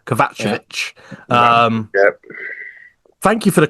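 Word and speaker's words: Kovačević: And then touching on the match winner, I would say, Vladan Kovacevic, as I've been told to pronounce it now. Not Kovacevic, Kovacevic.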